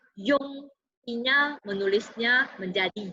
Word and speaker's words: yun: Ini bacanya yun. Tulisannya menjadi y u n seperti ini ya.